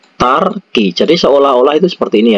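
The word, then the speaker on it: 닭이: Jadi kalau dibaca itu bacanya itu tarki.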